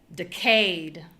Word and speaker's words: decayed: Okay, and then changing nothing with the sounds, we're only going to change the stress. We have decayed, decayed. So we're using our tools to make the syllable that is strong sound strong. All right, continuing to the next.